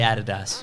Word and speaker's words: Adidas: In Australia, we say Adidas. We do. Because it's the correct way to say it.